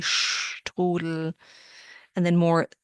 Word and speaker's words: Strudel: The PF sound Apfel, and then the ST that sounds like SHT, Strudel.